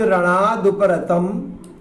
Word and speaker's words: रणादुपरतं: थोड़ा उच्चारण के बारे में देख लेते हैं इसमें कि भयाद रणादुपरतम, ये रतम के बाद में अम बोल रहे हैं हम और यहाँ माँ आ रहा है, इसलिए अम ही बोलना पड़ेगा।